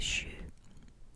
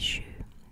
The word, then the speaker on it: jus: time you call it shoe you don't pronounce the s you call it shoe in dutch and this